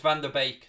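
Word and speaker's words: van de Beek: to van der beek is it bake or beak it's baked isn't it it's van der beek that's the way it should be pronounced i think he never plays so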